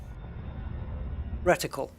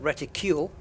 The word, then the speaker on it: reticle: Reticle. And I've heard reticule, which is something different. It's reticle.